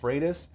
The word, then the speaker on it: Freitas: I said, look, it's pronounced Freitas, but my drill sergeant taught me to respond to anything remotely close.